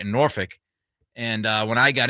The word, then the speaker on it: Norfolk: and uh everybody was just talking so highly of him it's Norfolk yeah that's how you pronounce it Norfolk it's not F it's not isn't it f-o-l-k